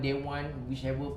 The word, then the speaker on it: De Wan: your name in it do you pronounce it daiwan or dawan we can say d1 day one okay because day one means